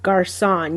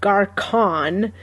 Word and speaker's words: garçon: So like the name of a boy is Garçon. You don't say Garcon because it's not a hard C.